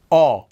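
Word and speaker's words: 어: Now, don't get this sound confused with the previous one we did, o, o. That one, the vowel went aw. up, kind of like a tree, an oak tree, o. This one goes to the side, aw, Aw.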